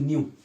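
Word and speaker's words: ν: Frequency का symbol ऐसे होता है, इसे बोलते हैं न्यू। न्यू ऐसे बनाते हैं, प्रोनाउंसिएशन है NEU कह सकते हैं, न्यू। न्यू इसका प्रोनाउंसिएशन है, या NU भी कह सकते हो, NU।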